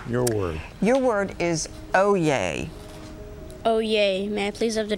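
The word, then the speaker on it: oyez: correct entry veteran your word your word is oh yay oh yay Matthews of the definition it is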